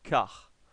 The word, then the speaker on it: char: Ou char en anglais. Ou plutôt car. En fait, je vais vous montrer, ça s'écrit char. En fait, pourquoi car? Parce qu'en fait, c'est le quart de caractère qui s'écrit character en fait.